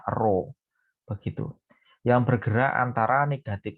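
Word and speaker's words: ρ: dilambangkan dengan roh ini seperti huruf P tapi bukan p ini bacanya roh begitu yang bergerak antara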